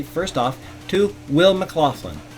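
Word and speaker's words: McLaughlin: first off to Will Mclofflin. That's the way I would pronounce it. M C L A U G H L I N. Will Mclofflin.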